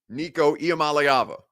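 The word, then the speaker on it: Nico Iamaleava: name Isa Mal AA EA Mal AA Nico malava not too deep real easy phonetic spelling or F phonetic pronunciation very simple for uh everybody involved Nico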